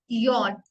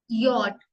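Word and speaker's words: Jot: बट अगर कोई बोलेगा स्पेल आउट करने के लिए तो हम इसको बोलेंगे यॉट. यॉट.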